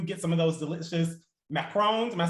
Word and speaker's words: macaron: some of those delicious macrons am i saying it right now yeah you are you are they're not macaroons they're macrons okay um yeah so